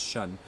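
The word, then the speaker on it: shen: This is a reflection of the Shun in Chinese medicine, spelled S-H-E-N, but pronounced Shun. The Shun of the participants in this retreat improves dramatically over the week.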